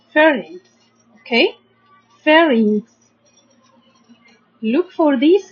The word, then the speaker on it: pharynx: The first syllable we have ph, make the sound f, like letter f, f, a, r, fur. Then we have here y, make the sound like I, but short vowel e, ings. So pharynx.